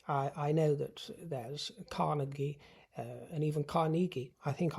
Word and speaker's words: Carnegie: I think I pronounced it Cariegi Hall for many a year, but I'm going off of Andrew Carenegi's own pronunciation of it, my dear, because he was in fact Scottish.